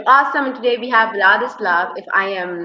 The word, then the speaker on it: Vladislav: in it is awesome and today we have vadis love if I am not you know pronouncing it wrong wonderfully correct how amazing I